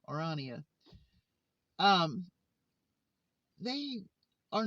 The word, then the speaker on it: Orania: Orania. It's just it's like Narnia Orania.